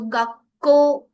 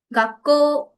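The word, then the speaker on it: 学校: it is not gakko, we can say gakko, gakko, but it is not correct, we have to pronounce it a little bit longer as, because last में एक vowel है। so gakko, gakko।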